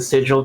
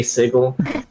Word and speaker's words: Sigil: place in sigle but we're goingon to pronounce it sigil because it sounds weird to say sigle um I approve thank